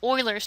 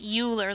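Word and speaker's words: Euler: and is often called Oilers's number. This is not pronounced Uler like a ruler with an E. It's pronounced Oiler like the football team.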